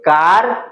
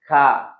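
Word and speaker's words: car: इट इज कार, नो इट इज नॉट कार, इट्स खा। Okay, र है, कहीं ऐसे वर्ड्स है इंग्लिश में जहां पे र साइलेंट है, उसका यह अ होता है। इट इज का, इट्स नॉट कार।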